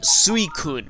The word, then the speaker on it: Suicune: but anyway yes so suicune is actually meant to be suicune that's actually how you pronounce it now I always